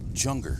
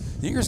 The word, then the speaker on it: Yinger: You know, I've heard some pronounce it Junger. Is it Junger? Nope. Jewinger. Jewinger? That's how Joe says it. It's neither. Joe has some relatives that are Jewingers. Oh, really? It's Yinger. It's Yinger. Correct pronunciation is Yinger.